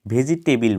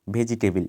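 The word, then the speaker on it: vegetable: এই শব্দটা আগের শব্দটার সাথে খুব কাছাকাছি, যেমন ভেজিটেবিল বলি, ভেজিটেবিল, কিন্তু এটা ভেজিটেবল হবে না, ভেজিটেবল। ভেজিটেবল।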